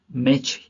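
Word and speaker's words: match: यहां T silent है मैच मैच मैच क्यों पढ़ेंगे हम इसको मै टच ना पढ़के हम मैच पढ़ेंगे जो कि यहां टी साइलेंट है अब कैच टच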